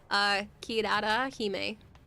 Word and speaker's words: Kirarahime: You've been saying it wrong. Kirarahime. It's Japanese inspired.